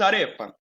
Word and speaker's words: arepa: Então, como se diz arepa? Arepa, igual. Como se pronuncia arepa? Arepa, é igual.